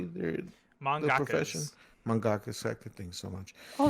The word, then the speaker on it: mangaka: what does what yeah so it's like manga and you just had a ka at the end mangaka mangaka this sounds weird i